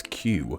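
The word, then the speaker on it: queue: It seems the popular answer is Q, as in the thing you do before buying something or going on a roller coaster.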